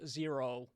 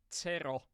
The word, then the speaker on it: Zero: is not it's not zero it's the uh you you would think so but it's not you have to pronounce my Nick Tero like we do in Finland you can try it